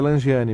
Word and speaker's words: Langeani: Apenas me corrija se eu estiver errado, a pronúncia correta é Langiani mesmo, né?